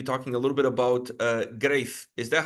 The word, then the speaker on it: Greif: going to be talking a little bit about Greif. Is that how you pronounce it?